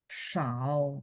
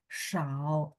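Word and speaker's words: 少: Sedikit adalah Shao ya, nada 3 ya teman-teman ya. Shao. Tuh, ketikan huruf Mandarinnya juga sudah benar ya. SHAO terus huruf Mandarin yang masuk juga udah benar.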